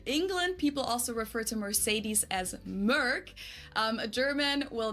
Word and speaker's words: Mercedes: So most Americans call this Mercedes. In German, we pronounce it Mercedes. So Mercedes versus Mercedes. Mercedes. So it's really pretty different.